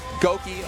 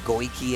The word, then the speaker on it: Goki: His proper name. I always say it wrong. I used to be like Goiki and everything.